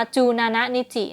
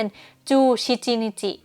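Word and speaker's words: 十七日: คือ วัน ที่ 14 ส่วน 17 มัน ค่อน ข้าง ประหลาด นิด นึง เนาะ เรา จะ ไม่ อ่าน ว่า จู นานะ นิจิ เนาะ เรา จะ อ่าน เป็น จู ชิจิ นิจิ จู ชิจิ นิจิ แล้ว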